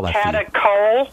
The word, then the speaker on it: catechol: Catechol? Catechol. C-A-T-E-C-H-O-L. CHOL, catechol estrogens.